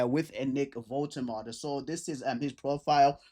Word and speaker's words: Woltemade: I'm pretty sure his name is pronounced Nick Woltemade, and Newcastle United have signed him from Stuttgart for 71 million pounds, and that's a lot of money.